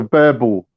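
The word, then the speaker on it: Boerboel: It's called a bear bull.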